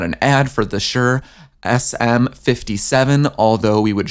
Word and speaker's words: Shure: of it yes we are talking about the sure that it's spelled s hu r e sm57 the industry